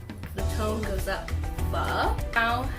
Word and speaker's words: phở: By the way, it's pronounced pho. The O has a little question mark at the end of it, so it sounds like a question. Pho. The tone goes up. Pho.